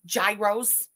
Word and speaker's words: gyros: Most people say gyros. She did say it right. People corrected her and she listened to them. It's gyros. She's really saying exaggerated, but yes, it's not a gyro. It's a gyro.